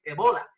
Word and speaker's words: ébola: como no tiene acento en la verdadera producción pronunciaciones ébola y éste ébola creó pánico en los atlas